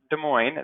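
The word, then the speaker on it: Des Moines: weird way to spell that too but it's pronounced De Moine that's the I see the star state capital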